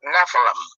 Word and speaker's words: Nephilim: So this word in the Hebrew for the word giant is Nephilim, or some people pronounce it Nephilim, which come from the prime word Napha, which means the offspring of the sons of God.